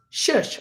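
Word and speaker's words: schuss: but it wasn't that shush it's spelled c-h-s-s-c-h-u-s-s pronounced shush or shoot it's a straight downhill run on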